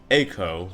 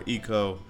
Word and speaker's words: Eiko: And apparently, like Realm in Final Fantasy VI, Eiko, I'm gonna call her Eiko. Some people call her Eiko, some people call her Eiko, because EI is any of those three pronunciations.